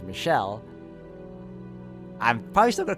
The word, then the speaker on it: Michel: Oh, so that's how you do pronounce it. I've been calling him Mikkel this whole time, but also, during the times when we were learning about the white-haired girl's real name, I've been calling her Michelle just to differentiate the two characters. But now that I know the actual pronunciation is Michelle, I'm probably still gonna